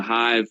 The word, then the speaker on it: Heyeve: The Hive would be a part of that.